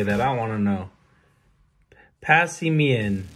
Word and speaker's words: Passimian: do you say that i want to know passy mean passimian okay that's how i'm gonna say it and